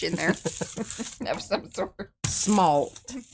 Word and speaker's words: smalt: It's kind of going the way of how the schmalty does, though. It sort of kind of is. Schmalty. Smalt.